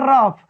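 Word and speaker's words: rough: उच्चारण किससे करेंगे, यानी GH का उच्चारण किससे करेंगे फ से, किसे करेंगे फ से।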